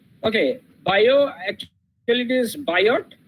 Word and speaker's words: Biot: via server law okay bio actually it is biot spelling is biot server but it is actually pronounced as bio server law okay now this